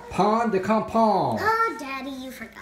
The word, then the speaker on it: pain de campagne: How do you pronounce it, Celeste? Pain de campagne. Pain de campagne. Oh, Daddy, you forgot. Pain de campagne.